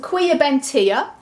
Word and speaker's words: Quiabentia: absolutely wacky guys and I think it's pronounced queer Ben Tia very strange name there and